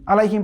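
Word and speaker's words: عَلَيْهِمْ: আলাইহিমকে অনেকে পড়ে আলাইহিম, আলাইহিম পড়া যাবে না। আইনের উচ্চারণ এই কণ্ঠনালীর যে মধ্যভাগ আছে সেখান থেকে উচ্চারণ করতে হবে আলাইহিম।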